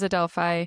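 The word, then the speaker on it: Adelphi: We apologize that your team name was mis mispronounced quite a few times. So it is Adelfi for those that don't know.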